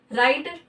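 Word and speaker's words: write: ठीक है, राइट, राइट means क्या होता है, लिखना, इसमें भी डब्लू साइलेंट।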